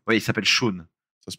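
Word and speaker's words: Shaun: Ouais pas Shun. Ouais, il s'appelle Shon. Ça se prononce peut-être pareil en anglais mais mais je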